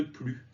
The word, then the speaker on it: plus: accompagné d'un mode négatif le s ne se prononcent pas rien de plus je veux juste que